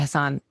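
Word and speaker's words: Hasan: I think he goes by Hassan. Yes, the correct pronunciation of that name.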